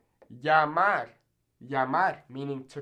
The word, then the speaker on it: llamar: Now, in places like Argentina, they'll actually pronounce this kind of like a J. So they'll say pollo, or llamar. Now, I personally don't speak like this. I speak a more Mexican-style Spanish. However, if you're interested in learning a particular accent like that, you can absolutely say that, pollo or llamar. But as a general rule of thumb, I'd say you should just say it like a Y.